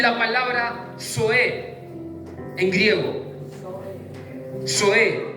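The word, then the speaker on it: ζωή: Zoe, Z-O-E, con acento en la E.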